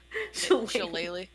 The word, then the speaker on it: shillelagh: Shillelagh. Shillelagh. Shillelagh. Yes. Say it with a little leprechaun twang.